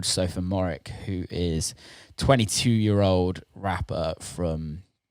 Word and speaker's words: Sophomooreik: Sophomooreik.